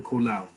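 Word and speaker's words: קולר: i'm just learning hebrew kolao right kolar the accent like in most modern hebrews on the last syllable so kolao is a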